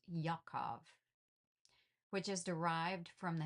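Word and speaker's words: יעקב: Um, Jacob in Hebrew, Jacob's name is pronounced Yakov, which is derived from the Hebrew word for heal.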